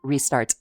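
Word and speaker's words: Ristarte: First off on the chopping block, we have Ristartse, pronounced Ristartse.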